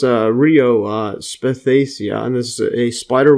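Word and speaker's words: Rhoeo spathacea: This is Royo, or I think it's pronounced Rio Spathacia, and this is a spider wort, which is a type of wild flower.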